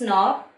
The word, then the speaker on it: knob: you can see this knob in your doors here in the spelling it is k n o b but while pronouncing the alphabet k is silent there are some words